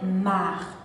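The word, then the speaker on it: Saint-Marc: de la deuxième ville de l'artibonite mendient c'est marc exemple c'est mark était un évangéliste la ville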